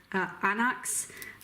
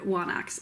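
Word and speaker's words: ἄναξ: That's because in older forms of Greek, there was an additional letter, digamma, which made the W sound, which started off that word, anax, which people in my class at William & Mary decided to use. So we pronounced that word wanax, and we pronounced other missing digammas, but that's just because we're weird. Don't do that.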